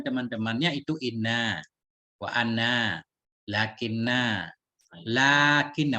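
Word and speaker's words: لٰكِنَّ: Lakinna. Lakinna. Walaupun nggak ada panjang di sini panjang nih. Tetap lakinna bacanya.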